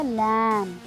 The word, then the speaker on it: lamb: और जो next word हमने लिया है LAMB, इसमें जो B है वो साइलेंट है, तो क्या वर्ड बनेगा? लैम, लैम, B नहीं प्रोनाउंस करना आपको।